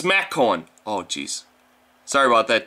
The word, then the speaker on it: McCowan: It says TimMcCowan, but it's actually, oh, I guess it's MacCowan.